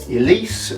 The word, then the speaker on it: Ellesse: possible okay multiple families Elise was founded in 1959 by Leonardo's radio in fact that's where the correct pronunciation comes from because LS is his initials people think that the